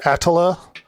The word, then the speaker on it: Attila: Technically, it's pronounced Attila.